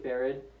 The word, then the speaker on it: farad: know how to pronounce I say farad because it's just Faraday but I don't say the day so it's just farad um so that so what